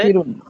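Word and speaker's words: ناصرٌ: নুন আলিফ জবর না, সাদ জের সি, আর র দুই পেশ রুন। যখন আপনার নাম লিখবেন তখন র দুই পেশ হবে আর কি, আর উচ্চারণ করলে নাসিরুন। নাসির।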